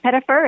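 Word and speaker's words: Pettyfer: about this cast and alex um pettifer is that how you say his name that is yeah yeah you know it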